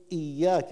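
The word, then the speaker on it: إياك: يوم الدين هكذا طيب اياك احقق هذه الهمزه اياك ولياء هنا مشدده مشدده مشدده اياك نعبد نعبد كلمه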